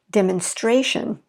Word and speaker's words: demonstration: see ma how about demonstrate the stress is on the first syllable but then we're going to add tion and notice that we're going to shift it demonstration demonstration okay so you can see